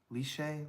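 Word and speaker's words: lychee: Is it lie? Liche lie. I've heard that's supposed to be really good. Liy. That's it.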